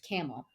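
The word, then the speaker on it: QAML: is a camel so the intention was ql pronounced camel and so that's what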